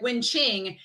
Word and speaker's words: Wen Qing: Yeah, so with the Q sound, because in English it's like k, and then in Chinese it's ch, so it's like Wen Qing.